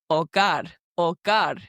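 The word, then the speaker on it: hogar: the letter H, and practice pronouncing the silent letter. And Jennifer gave a great example of the word or guard, which is spelled H O G A R, which means home.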